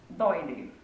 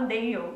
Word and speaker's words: Doyle: Eu sempre falava Dale, só que aí eu fui escrever um post no blog e aí eu descobri que não se escreve Dale, se escreve Doyle e provavelmente eu pronunciei errado a vida inteira.